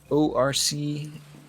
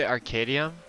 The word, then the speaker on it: Orcadeum: Did you say Arcadium? Orcadium. Orc. Oh, I heard. ORC. You were pronouncing it Arcadium, but when you spelled it out, you said O.